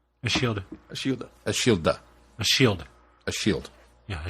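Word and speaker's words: Ashildr: Ashilda? A shield. Ashilda. Ashilda. A shield. A shield. Yeah, a shield. The R is silent.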